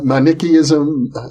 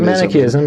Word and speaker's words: Manichaeism: Both the Manichaeism, I'm saying it wrong. That's correct, Manichaeism, yeah.